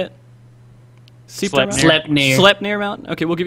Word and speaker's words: Sleipnir: Sleipnir.